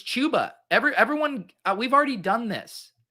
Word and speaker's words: Chuba: it's not it's it's chuba everyone we've already done this i used to say chaba then i was told it's chuba now you're saying it's chubba i can't keep up